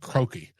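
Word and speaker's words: Croke: I think it's pronounced Croaki. It's C R O K E, which was built originally in like 1886.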